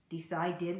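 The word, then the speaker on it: decided: dip decide decide did even though it ends with eat it ends with the sound do decide did we add an extra syllable its in work rooked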